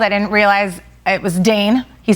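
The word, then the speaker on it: Dain: Did Dne probably spelled D A I N. Oh, wow. very which rhymes with drain which is what we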